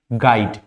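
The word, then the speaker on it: guide: words you अगर यू आपका जी के साथ कभी भी आता है फॉर एग्जांपल गाइड गेस तो यहां पर भी यू क्या होता है साइलेंट होता है अगर कभी भी इस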